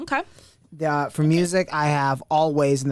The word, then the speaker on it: Alvvays: For music, I have Always, and that's Alvvays, pronounced Always.